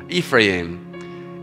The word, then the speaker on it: Ephraim: And you can pronounce that different ways, but I looked it up. That's the best I've got this morning. Ephraim.